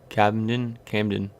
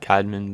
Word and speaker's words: Camden: Camden. Yeah, Camden. Okay, Camden Arneson. There you go. I don't know why it's so hard to pronounce Camden. I just always think it's like Cadman, but so we don't